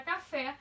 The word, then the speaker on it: café: exemplo na palavra café na palavra café a sílaba mais forte é a última ou seja é certo